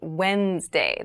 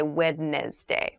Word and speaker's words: Wednesday: So, Wednesday is the middle day of the week, but keep in mind this is pronounced Wednesday. There's a D there, but we don't say wed day.